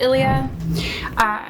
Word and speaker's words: Ilia: So I think it's pronounced Ilia.